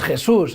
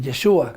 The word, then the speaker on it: Yeshua: No es Jesús, es Yeshua. Yeshua.